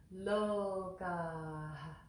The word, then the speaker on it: Lokāḥ: the Vedic way properly so that first word look there's a little aspiration after at the end of the the word so to say that with me Lowell God and the next word